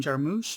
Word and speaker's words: Jarmusch: die from 2018 written and directed by jim jarmusch i believe is how his name is pronounced who i am mainly familiar with from